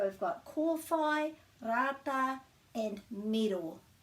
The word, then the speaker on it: miro: got korfai rata and miro miro and there's no macrons so that's quite short middle hopefully that helps